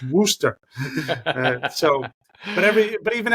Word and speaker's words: Worcester: names um because yeah you see the way it's spelled and everybody wants to say Worchester right no it's wer wer yeah like a